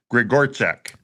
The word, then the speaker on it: Grzegorczyk: Well, it is Grigorchak. It is spelled Grzegorczyk, but it's Grigorchek.